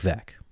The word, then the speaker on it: Veeck: and his father, William Veeck Jr., who you probably know as Bill Veeck. Their last name is spelled Veeck. But, as Bill's 1962 autobiography famously told us, it's pronounced Veeck, as in wreck.